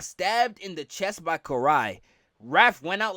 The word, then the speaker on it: Karai: Of course, this was your comic historians uh pronunciation of the Japanese names just off. So, it is Karai.